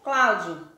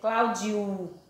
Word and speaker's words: Cláudio: Quando eu pronunciei Cláudio, eu pronunciei Cláudio. O O tem um som de U, é Cláudio, não é Cláudio, é Cláudio.